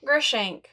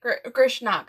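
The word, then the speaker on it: Grishnákh: to pronounce I have no idea how to pronounce that guy's name. Grishank. Really? Grishnak, sorry.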